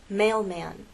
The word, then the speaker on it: mailman: followed by a consonant in words like this mailman now mailman actually has two syllables mailman we can divide it right there